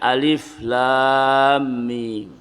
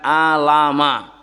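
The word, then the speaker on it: الم: al-baqarah yang diawali dengan Alif Lam Mim bacanya bukan Alama Tapi bacanya apa per huruf alif lam mim banyak penafsiran di dalam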